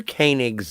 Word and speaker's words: Koenig: it was written by Walter konink and directed by Hal Sutherland first things first if I may uh Walter koenig's last name is pronounced Koenig Koenig yeah he pronounced it